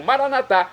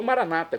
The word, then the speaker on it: maranatá: E agora eu clamo maranatá, como dizemos nós católicos, ou maranata, como dizem nossos irmãos separados das comunidades evangélicas ou protestantes. Não importa a pronúncia, o significado é o mesmo.